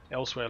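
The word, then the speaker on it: Elsweyr: elsewhere es e l SW e yr it's pronounced elsewhere so else we all do I'm looting everything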